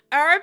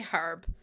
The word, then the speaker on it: herb: Yeah, herb is very American. Um, over here we say herb. We had this discussion yesterday, I think, and I was like, "Nah, that's mad to me that you guys say herb and I go herb." I put a proper hard h on it like um also, "Hi, Cindy.